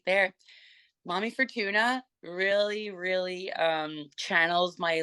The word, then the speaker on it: Momy Fortuna: band and is it how do you pronounce the name of the band mommy Fortuna so is Mommy I wasn't sure if it was uh momy or Mommy so mommy Fortuna and so why the